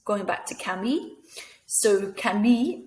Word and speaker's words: Camille: So Camille, it's got an E, and that E makes us pronounce the double L sound, which is actually a Y sound. So Camille.